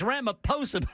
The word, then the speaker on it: Ramaphosa: It's Ramaphosa.